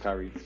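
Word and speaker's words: Khiry: Eli and Kyrie. K-H-I-R-Y. It's not spelled like Kyrie Irving is.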